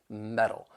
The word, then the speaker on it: metal: be a flap T which is going to sound more like a soft D sound and the reason that